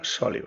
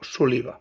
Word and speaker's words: Soliva: Estel Baldó, Rosa Gil, Maria Soliva (pronunciada com esdrúixola) o Soliva, segurament perquè sinó portaria accent.